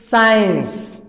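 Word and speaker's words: science: देखो कैसे, जैसे स्कूल, स्कूल, स्कूल, तो यहां पर साइलेंट नहीं है, बोला जा रहा है, लेकिन नीचे देखो साइंस, साइंस, स्केड्यूल या शेड्यूल, स्कोल्ड, स्केयर, सकेयर नहीं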